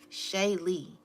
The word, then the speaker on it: Shaylee: And then the Shay Lee, like shea butter.